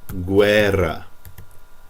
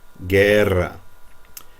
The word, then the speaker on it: guerra: G, if you have a UE after it, a UI, well, just thinking of this part, again, we're not going to pronounce the U. That U is just there so that this G can get a hard sound.